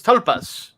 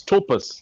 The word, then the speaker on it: tulpas: of myth confront dark cyberspace entities known as talpas did i pronounce that correctly yes tulpas yes sir okay um if i try to